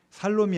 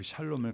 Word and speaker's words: 샬롬: 이사 나눌 때도 샬롬 샬롬 하죠 살롬이 아니고 샬롬입니다 샬롬 발음이 좀 제가 저기